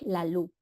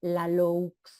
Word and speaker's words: Laloux: O sea, algo, él dice, se llama Frédéric Laloux, ¿no? Como Federico, pero en francés, Frédéric, y Laloux se escribe Laloux, Laloux.